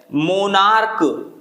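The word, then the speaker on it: monarch: मोनार्क, ये है तो सी एच लेकिन पढ़ा क्या जाएगा, का, इसका प्रोनाउंसिएशन का आएगा तो ये हो जाएगा मोनार्क्स, ठीक है।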